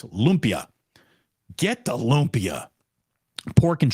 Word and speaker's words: lumpia: I was told, again, it's not a 3-syllable name. It's lumpia.